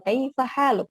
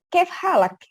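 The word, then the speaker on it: كيف حالك: Kalau di Arab Saudi, kalau orang Indonesia itu kaifa haluk bisa kaifa haluk pengucapannya. Tapi kalau di langsung orang native, kaif halak.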